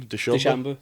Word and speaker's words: DeChambeau: well, because it was, is it Deschambault? Is that how you say his name? DeChambeau. Deschambault. Bryson DeChambeau. DeChambeau.